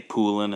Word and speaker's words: Poulan: a thing there so in canada here most people say pooling and that's what i've always said in this video i'm trying to say it properly but it it just never feels right but in throughout the